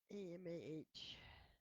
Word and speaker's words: Aholibamah: Oh, a holib Aholibamah. Pronunciation.